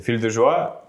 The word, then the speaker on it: Fille de joie: «Fille de joie»? Я почти... Да, почти. Там «эль» не читается. Во французском языке есть одно простое правило. Ты пишешь примерно 16 букв, читаешь 3 из них.